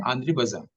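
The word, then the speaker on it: André Bazin: Spelling है आंध्र बेजिन, BAZIN, लेकिन हम्म उच्चारण है आंध्र बाजार, है ना।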